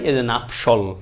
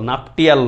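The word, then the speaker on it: nuptial: Mary's শব্দের কি ভাই নাপশল নাপশল নাপটিয়াল না কিন্তু উচ্চারণ নাপশল ওকে ভাই কামিং ব্যাক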